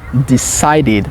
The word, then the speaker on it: decided: qui est une voyelle mais le préérite sera decided pas decide on a aussi hate hte se